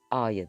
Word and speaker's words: ha: El, e'ye ya da ustetle kullanıldığında a'ya dönüşür. Yani he a diye yazılır ama a diye okunur.